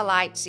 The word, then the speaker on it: lights: Então, a hora que eu falo lights, eu quero falar lights igual a ele. Eu não quero pronunciar esse GH aí no meio.